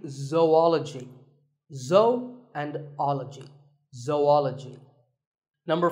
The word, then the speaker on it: zoology: do you say it if you said zoology it's actually wrong that is a very common mispronunciation this is actually zoology though and ecology zoology